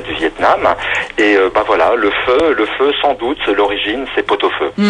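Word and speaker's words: phở: Mon péché mignon, moi, c'est le feu, qui s'écrit faux en fait.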